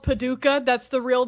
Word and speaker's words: Paducah: Yeah, it's called Paducah. That's the real name, and it's not spelled how you spelled it. It's spelled Paduch.